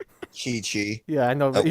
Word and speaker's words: Chi-Chi: starts calling his wife Chai Chai. Chi-Chi. Yeah, I know, but he wait.